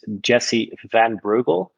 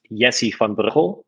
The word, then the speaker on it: Jessie van Breugel: So my full name is Jessie van Breugel. In Dutch, it's Jessie van Breugel, but I think that's pretty hard for your audience to remember or even pronounce.